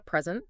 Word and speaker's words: present: down I got a present uhhuh but if you stress the second syllable it's a verb I will present my findings right stress all also